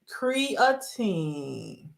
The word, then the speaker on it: creatine: Doctors and nurses, they all say the pronunciation is creatine. And creatinine is pronounced creatinine.